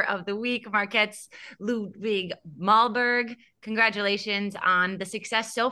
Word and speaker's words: Målberg: Correct way for my last name is Målberg, which means goal mountain.